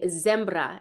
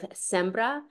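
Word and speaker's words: sembra: and um I think I was pronouncing I was saying zembra instead of sbra and he kept going right before I sang he went SRA sbra so he's I'm constantly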